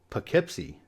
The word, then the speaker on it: Poughkeepsie: City and it's pronounced Poughkeepsie of all the ones in this video I think this is the one whose pronunciation is the furthest away from where it looks this is a city